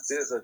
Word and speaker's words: Dizza: Yeah, it's Dizza, just like RZA and Jizza.